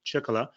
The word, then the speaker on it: Ciccola: uh like petra said my name is ciccola it's uh you know rhymes with the uh with the beer japanese beer ichiban so that's what i refer